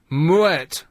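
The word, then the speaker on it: Moët: one just one point the correct pronunciation of m o e t according to the winery is Mu muet muet muet turn the m and then wet muet m m that's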